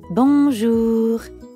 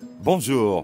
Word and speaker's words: bonjour: in english in fact the n isn't really pronounced at all instead practice saying o